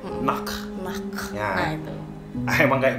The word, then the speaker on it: Nacht: Pakai bahasanya Jerman. Ya, Austria sedikit banyak terpengaruh dengan bahasa Jerman juga. Jadi pengucapannya harusnya mirip-mirip. Nacht.